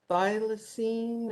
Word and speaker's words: thylacine: How do you pronounce this animal's name? It's a thylacine or Thylacine, very yeah.